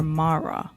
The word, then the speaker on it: Marra: Is it Marra or Marra? It's Marra. Marra. Yeah, you said it right.